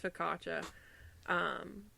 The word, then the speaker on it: focaccia: It's focaccia.